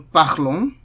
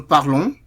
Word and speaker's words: parlons: Nous parlons. Vous parlez. Il parle. Elle parle. So, note that the ENT here is silent.